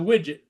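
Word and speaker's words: Miedwie: That ship that went by, it's uh spelled M I E D W I E. And when he called into Sarnia radio, he calls it the widget.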